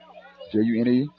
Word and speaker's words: Generic: Yeah, Generic. That's how his name is spelled. Junerick. Generic was triggered inbound pass.